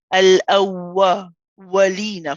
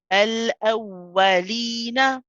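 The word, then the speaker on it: الأولين: Often, what we do is we tend to not make an incomplete movement. We don't bring our lips all the way back, and that produces a sound which is a bit like al-awwa, walina, for example, al-awwa. So we don't want to do that. We want to say al-awwa, al-awwalina.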